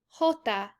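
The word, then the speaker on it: jota: next one is that j sounds like the english letter h so if we pronounce j in spanish it is hota so you can see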